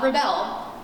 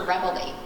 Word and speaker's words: Rebelly: It is not Rebel, it is Mr. Rebelly. We like to pronounce our E's.